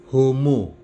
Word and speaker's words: homo: n menjadi ng membacanya huruf ha ha dalam bahasa Latin tidak diucapkan misalnya homo itu diucapkan Ungu mihi diucapkan Mei jadi ha itu luluh hilang Wow kita menjumpai